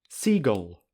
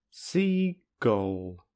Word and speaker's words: seagull: With a vowel before the o, it sounds like this: seagull, seagull, seagull. However, it can also be pronounced as seagull, seagull, seagull. If you say it slowly, you can hear that the g is immediately followed by o with no vowel in the middle.